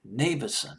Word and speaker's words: Nevison: album, the producer, Ron Nevison. I believe that's how you pronounce his name. Nevison. Or, yeah, Nevison. I'll just pronounce it as Nevison. Nevison just sounds better.